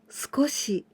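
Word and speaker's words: 少し: candy together with c we pronounce sko in this case skoshi skoshi it is the same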